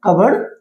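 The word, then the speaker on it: cupboard: लेकिन जब हम इस वर्ड को प्रॉपर इसकी प्रोनाउंसिएशन पे जाएंगे तो ये क्या बोला जाता है, कबर्ड बोला जाता है।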